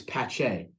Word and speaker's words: Pache: It's Patch. So everyone thinks it's Pache. It's Pache. Che. Check. Pache. Like there's supposed to be a T before the C.